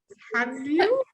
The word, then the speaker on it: Hallyu: I'm pronouncing it wrong. I think it's Hallyu. Uh, Perfect. Yeah, Hanyu, perfect. Yes, Hallyu. yes. Oh yeah. So Yeah, far, I was Hanyu. like, Yeah, yeah. Hallyu all the time, and then I know the Korean Uh-huh. pronunciation is Hallyu.